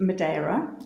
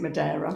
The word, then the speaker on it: Madeira: i flew out to madera did you call it madeira but i now know you should pronounce it madeira oh madeira cake not madeira okay that's right yeah i